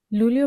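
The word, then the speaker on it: Luglio: লুলীয় বানানটির দিকে খেয়াল করি, এখানে আছে এল এ উ, এই উচ্চারণ হবে লু। আর জি এল এ ই লি, আর ও উচ্চারণ তো ও এর মতোই হবে, তার মানে এল এ উ লু, জি এল এ ই, এই ৩টি বর্ণ মিলে হবে লি অ, লুলিয়।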